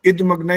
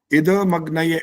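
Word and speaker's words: इदमग्नये: भी एक गलती है और इद मग्न हर बार यही आया तीन बार आया और तीन बार मंत्रों में ऐसा ही होता है इद मग्नय ऐसा बोलना होता है तो आपका हर बार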